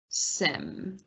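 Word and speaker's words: SIEM: for monitoring logs without the cost of a sim am i pronouncing that right s-i-e-m uh yeah that that depends on who you are and then for me it depends on the day sometimes it seems sometimes it's simp um uh and so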